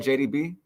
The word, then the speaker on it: JAD3YB: That's how you say it, right, JDB? Yeah, Okay, JDB yeah.